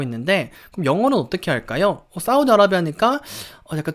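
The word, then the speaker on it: Saudi Arabia: 사우디는 뭔가 맞는 것 같은데 뒷부분이 좀 달라지는 게 여러분 들리시나요? 아라비아라고 우리는 한글로 표기를 하는데 자, 영어로 할 때는요 사우디는 거의 똑같고요. 사우디 아라비아예요. 아라비아.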